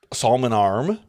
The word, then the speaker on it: Salmon Arm: beautiful beautiful town of Salmon Arm Salon arm Salmon Arm you don't pronounce the L ever Salman arm I play Sal AR